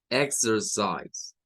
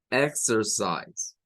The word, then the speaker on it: exercise: sería esto de aquí, la C suena a una S, esta I suena a I, que es el sonido largo, la E no suena, y la S del final suena como una Z.